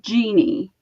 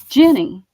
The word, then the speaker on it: Jeanne: Well, I'm Jeannie, and it's spelled Jeanne. And I keep having people tell me that that's Jenny. And it's like, no. Jean, Jean, me. Jeannie.